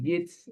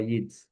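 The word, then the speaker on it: Yeats: Así que sí, en realidad hay y Jits, habría que animarnos a a conocerlo a Yits, que es eh es como ese poeta fin de siglo XIX, principio del X.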